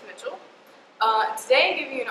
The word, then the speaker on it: Mitchell: It's spelled like Michelle, but it is Mitchell.